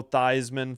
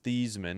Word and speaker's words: Theismann: Yeah, it was Joe Theismann, formerly known as Thiesman. He changed his name to rhyme with Heisman.